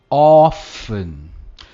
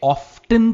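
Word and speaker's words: often: Next word देखते हैं, ऑफन। मैं जानता हूं कहीं लोग इसे ऑफ्टन करके भी प्रोनाउंस करते हैं, वो गलत नहीं है, दैट्स एन अमेरिकन प्रोनाउंसिएशन। अगर आपने सुना है ऑफ्टन तो भी सही है।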